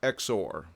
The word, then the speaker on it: XOR: as exclusive or logic written x o r and pronounced exor the 1026 has a